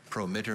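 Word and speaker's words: promittor: latin to english plus an english combining form prometer means a planet that promises in a horoscope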